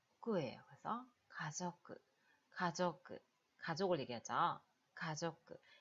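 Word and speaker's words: 家族: 그래서, 가족끄. 가족끄. 가족을 얘기하죠? 가족끄. 이 카행이 앞에 붙을 때는 발음이 좀더 약하게 나는 게, 카라고 하자고, 약간, 가족끄, 가족끄. 약간 약하게 나는 게 많거든요. 그래서, 가저끄가 돼요.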